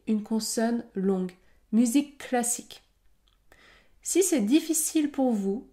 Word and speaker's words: musique classique: autre exemple musique classique musique classique le son termine le mot musique et le son débute également le mot classique dans ce cas je vais pouvoir prononcer une consonne longue musique classique si c'est difficile pour